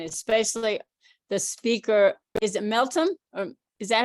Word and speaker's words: Meltem: Is it Meltem? Or is that how you pronounce it? Yes, it is true. Meltem Okay.